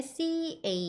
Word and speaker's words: cabbage: 보통 자음이 두 개가 들어가 있으면 한 번만 발음해 주시면 돼요. 그래서 C-A는 care 이렇게 발음해 주시고 뒤에 B-B-A-G-E 같은 경우엔 beige 해주셔서 cabbage 이때 cabbage 끝에 G 해주시지 마시고 cabbage 힘 빼주셔야 돼요.